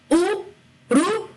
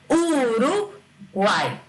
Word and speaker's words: Uruguai: Notem, se fosse para ser vogal, a palavra seria Uruguai. Uruguai. Não tem cabimento essa palavra. A gente fala Uruguai. Então, tanto o quanto o i, que estão na mesma sílaba que o a, passam a ter um som abaixo do normal dele. Então, ele passa a ser uma semivogal.